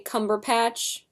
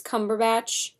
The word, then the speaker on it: Cumberbatch: I always say Cumberpatch, but it's Cumberbatch.